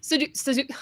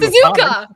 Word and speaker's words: Suzuka: Suzuk I can never say this right. I learned to read with phonics. What? I learned to read Suzuka.